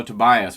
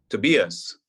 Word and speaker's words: Tobias: And now, am I saying it right, Tobias? Sometimes on your show they say it another way. Tobias. Tobias. Okay, all right. That's Yeah. the German way to say it, yeah. But Tobias is fine.